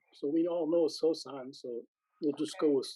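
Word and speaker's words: Sōsan: well but it's the third patriarch can you pronounce his name japanese it's sosan so we all know sosan so we'll just go with sosan okay so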